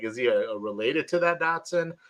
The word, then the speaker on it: Dodgson: if he's that same Dotson. I got the IDMB pulled up. I'm gonna say no on that because it's Dodson. That his character's name is Dodson, which is DODGSON, as opposed to DOTSON.